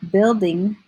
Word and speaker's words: building: are controlled Oh a building says if like insect short I it's a strange spelling pattern so just in your